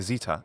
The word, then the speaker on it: zeta: equivalents with some caveats the new letter here is what we call Zeta in American English and Zita in British English its pronunciation is z this letter which we